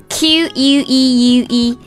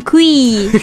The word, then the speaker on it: queue: 对，还有我们日常用的一些单词，比如说排队这个单词 queue 就是 queue。Like the letter Q,、 yeah. 像那个字母 Q 一样排队。但是有些人会读成 Queen.